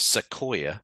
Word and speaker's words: Sequoia: One on the left-hand side, pronounced Sequoia, as in the tree, Hmm.